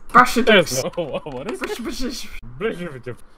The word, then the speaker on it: Brash Exodus: Brash Exodus. Brash Exodus.